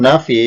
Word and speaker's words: nafi: Tulisannya harfu nafyin, tapi bacanya huruf nafi. Begitu pula yang bawah ini tulisannya nama lengkapnya harfu nahyin, tapi bacanya huruf nahi.